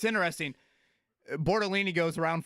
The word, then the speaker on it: Bortolini: Yeah, we're going Tanner Bortolini, right? Now, that is how you say his last name. Tanner Bortolini, 6'4", 305, out of